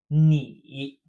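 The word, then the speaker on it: 你: have me II me exactly like your knee but with a dipping tone knee on the left of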